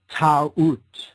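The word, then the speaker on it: Taurt: Or Ta'ut, she was called in older Egyptian tradition.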